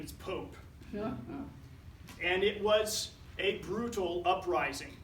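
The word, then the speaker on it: Popé: P opv now it's not permitting it's not pronounced Pope its Pope a so I had to spell it first to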